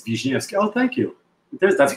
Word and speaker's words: Wisniewski: know my name which you can pronounce either Wiznookski or Vishnvki if you want to get ethnic officially if you want to get if you want to you know pronounce it properly it's Vijki oh thank you there